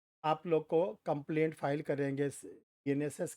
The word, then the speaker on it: BNSS: बीएनएसएस पढ़ रहे हैं, आदत डालिए बोलने की और बिल्कुल क्लियर प्रोनाउंसिएशन बोलिएगा, क्योंकि देखो, बीएनएस और बीएनएसएस में एक एस का बस केवल फ़र्क है। अगर आप बीएनएस बोलोगे तो वो आईपीसी वाला माना जाए, अगर आप बीएनएसएस बोलोगे तो वो सीआरपीसी वाला माना। तो प्रोनाउंसिएशन बिल्कुल सही निकालना, बीएनएसएस।